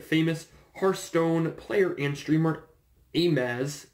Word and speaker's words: Amaz: But something that Wizards did today regarding the Pro Tour is that they invited famous Hearthstone player and streamer Amaz, A-M-A-Z, I'm pronouncing that correctly, to the next Pro Tour, to Pro Tour Hour of Devastation.